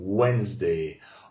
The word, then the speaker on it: Wednesday: The last Wednesday, on prononce pas le D, hein, Wednesday of August, donc c'est comme si c'était un O et un E, August, people are dressed in white.